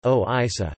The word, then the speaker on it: ଓଡ଼ିଶା: The maritime history of Odisha, Odia, Orissa, Odia pronunciation, Oisa, known as Kalinga in ancient times, started before 350 BC according to early sources.